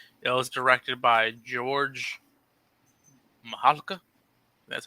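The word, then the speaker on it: Mihalka: It was directed by George Mahalka. That's how you pronounce his name.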